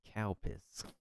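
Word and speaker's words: Calpis: The the drink that is pronounced as cowpiss.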